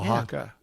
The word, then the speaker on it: Oaxaca: I'm like, how in the world do you pronounce that? Yeah. So. And it's Yeah. Oaxaca.